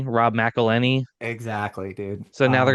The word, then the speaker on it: McElhenney: Like it rhymes with Penny, Rob McElhenney.